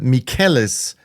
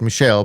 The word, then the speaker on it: Mikel: I think I I I pronounced uh mikel's name incorrectly I said Michelle because that's what it looked like to a dyslexic but he is a he and therefore I should have pronounced it differently so I hope I've corrected it now by um by naming him Mikel molini but anyways of course